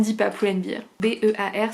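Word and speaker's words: Pull&Bear: B-E-A-R, ça se prononce bear comme un ours.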